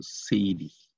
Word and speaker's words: Seiri: Donc L, R en japonais prononce L. Donc on prononce Seiri.